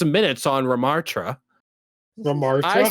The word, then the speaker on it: Ramattra: As someone who before competitive mystery heroes had a combined 6 minutes on Ramartra, Ramartra? I say, you know what? Ramartra? I say Ramatra. That's his name, right? Ramattra.